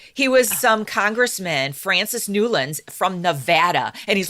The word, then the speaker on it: Newlands: called the Newlands resolution spelled like new lands and I was like oh well the government is getting fancy and naming their resolutions no the guy's name was nuland he was some Congressman